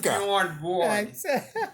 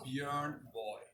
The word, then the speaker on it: Björn Borg: And, I'm sure he doesn't even know how to pronounce the name Bjorn Borg properly. It's not Bjorn Borg. It's not Bjorn Borg, John. It's Bjorn Boy.